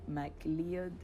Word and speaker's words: McLeod: Mary McLeod Bethune. McLeod. McLeod. Leod. It's McLeod.